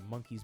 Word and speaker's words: Monkeez: So the MNKZ token, I believe it's pronounced Monkeez token.